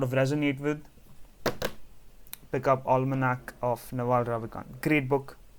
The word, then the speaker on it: Almanac: Almanac. That's how it's pronounced.